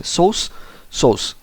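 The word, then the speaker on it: source: Okay, अब यहाँ पे जो आर है वो साइलेंट होता है. सोर्स.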